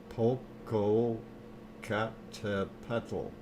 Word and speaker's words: Popocatépetl: There's things that I cannot pronounce, and it's difficult. See if Dr. Fox Popocatépetl. Popocatépetl.